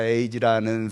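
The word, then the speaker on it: 英二: 저 제가 오늘 할 거는 2대째라고 하는 사람하고 5대째 0 2라고 쓴 일본어 발음으로 에이지입니다. 토요타 에이지라는 사람하고 할 건데요 두 사람인데 그래도 일본 내에서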